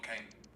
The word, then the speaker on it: Kane: One last question: Haaland or Kane?